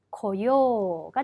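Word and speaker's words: 来よう: 와야지 라고 바꾸기 위해서는 고요가 됩니다. 자, 하다, 수루라는 동사를 하자 혹은 하겠다, 해야지로 바꾸기 위해서는 시요가 되는 거죠. 여러분 여기서 주의하실 점, 요 의식적으로 발음을 좀 길게 끌어주셔야 한다는 겁니다.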